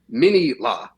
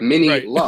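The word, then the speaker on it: Minilla: he would be like Mini-La. Like the emphasis on the last part, like not like Manila in the Philippines. It's like Mini-La.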